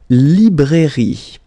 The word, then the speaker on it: librairie: Then, la librairie, okay, remember, I here, librairie, final not pronounced, la librairie, okay?